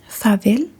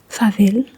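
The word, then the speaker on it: farvel: And when saying goodbye to someone, you can say fav, you can also say vis.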